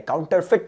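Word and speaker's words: counterfeit: ई आईटी काउंटर फिट presence करने का तरीका बहुत अलग है काउंटर फिट बोलोगे एफ आईटी खत्म करोगे कहानी लेकिन स्पेलिंग दिखते वक्त क्या बोलोगे एफ ई आईटी काउंटर फिट इसका मतलब है ई साइलेंट है है ना काउंटर फिट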